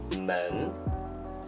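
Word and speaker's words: 们: to teach you is men men okay this is men and in pinging it is M II and with the second town men men men men actually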